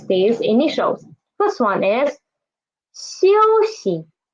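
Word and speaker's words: 休息: First one is 休息. 休息, it means to rest. To rest. 休休, xi is this one is the neutral tone, okay?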